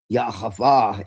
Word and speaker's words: Yahweh: Now, the Shekinah is supposed to be the divine feminine, but what you find out is that really Yahweh is, which is the actual pronunciation, is actually androgynous.